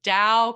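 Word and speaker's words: Tao: i mispronounced her space so dao comedy studio spelled t-a-o is the most mispronounced space in l.a but it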